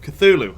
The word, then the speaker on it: Cthulhu: we're gonna be playing some more Call of Cthulhu actually said it right that time hey Simon